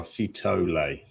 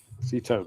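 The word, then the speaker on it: Sithole: We've got the official pronunciation. There we are. Sitole. Sitole. There you go. Sitole.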